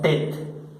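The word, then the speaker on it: tête: Se pronuncia tet, la tet, tet.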